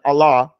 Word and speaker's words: Allah: not saying Allahu because when we say Allah we're not saying that ha at the end we're just saying Allah of Noah or anything